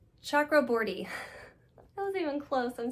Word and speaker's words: Chakraborty: We have a Goodreads Choice Awards nominee, The Avengers Amina Al-Safi, Shannon Chakratorty. I know I butchered that last name, and I'm so sorry. It's Chakraborty.